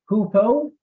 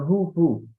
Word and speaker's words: hoopoe: So the picture you guys see here is and there's two ways to pronounce it: hoopoe or hoo-hoo.